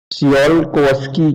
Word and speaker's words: Tsiolkovsky: also known as c c kki rocket equation SE Koski rocket equation okay let me write here this is also known as T is silent see all all V rocket equation